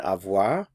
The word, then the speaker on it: avoir: bur means fear fear notice the pronunciation AV to produce the sound represented by this symbol here in the IPA try saying ah ah and then round your lips ah remember that you need